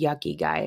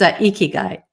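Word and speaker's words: ikigai: So, you have to tell me what the yucky guy is because I know I'm saying it wrong, but that's how I heard it. The yucky guy. That's a good one. I should It's eeky guy. Oh, eeky guy.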